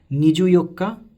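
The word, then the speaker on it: にじゅうよっか: So in this way it continues, and again wherever there is the 14th or the 19th, like 24th and 29th, it will be Nijuyokka and it will be Nijuku Nichi.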